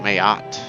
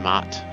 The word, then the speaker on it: Maat: snatched away from them i think it's actually pronounced like mayot but i don't know everyone else always just said mott or matt i guess i could go with mott but whatever blinded